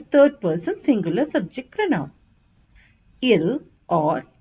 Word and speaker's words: ils: e l e s s is silent so it's pronounced as ill or L we use ILS when